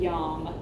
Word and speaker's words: yam: And there's a seed sound specifically for the heart chakra, and it is yam. So only one syllable to worry about.